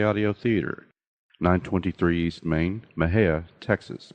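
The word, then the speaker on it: Mexia: theater 923 East Main Maha Texas Maha is spelled m x i a the zip 7666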